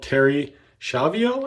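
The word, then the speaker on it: Terri Schiavo: One example is in 1990, 26-year-old Terry Schiavo, I think is how her name is pronounced.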